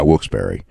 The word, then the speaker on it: Wilkes-Barre: crowd in wilkes-barre for um or will yeah wilkes-barre it can be pronounced both ways but anyway um for smackdown